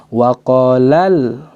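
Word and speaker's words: وقالا: orang sama Wakwaw Alhamdulillah Nah untuk membedakan antara satu atau dua orang yang dua orang sudut tekan sedikit maka kita cara bacanya waqolal wakol Alhamdulillah waqolal waqolal seperti itu Kenapa diangkat suara menunjukkan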